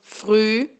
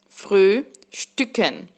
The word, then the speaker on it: Frühstücken: Atenção para a pronúncia, tem dois umlauts. Frühstücken. Frühstücken.